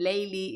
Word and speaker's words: Layli: Because Layla is the Arabic name and Layli is the way the Iranians pronounce it.